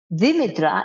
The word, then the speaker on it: Demetra: Dimitra is actually the Greek pronunciation of my name.